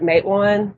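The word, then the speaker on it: Matewan: it is it Matan or Matan we've always pronounced it mwan because a lot of the places around here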